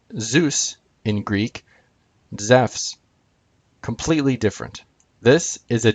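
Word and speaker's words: Ζεύς: word JeSUS, and the name Zeus in Greek, Zephs, completely different.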